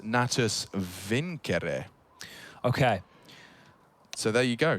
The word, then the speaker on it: Natus Vincere: navi's full name and want to say it correctly as in the latin uh it's actually pronounced nattus vincere okay so there you